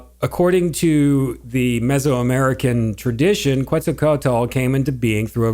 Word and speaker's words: Quetzalcoatl: known as quetzalcoatl would read how do you pronounce that again quetzalcoatl okay would return to earth well what does